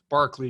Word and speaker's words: Berkeley: it today uh this week and next week barkley pronounced barkley espel berkeley like the campus uh in california but it's his name in in britain is pronounced barkley he's an irish irishman but barclay is the pronunciation and barclay's going to defend a very